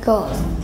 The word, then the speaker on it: goose: It's a goose. Goose. Goose. If you say two same letters, you pronounce it like oo, g, oos, goose.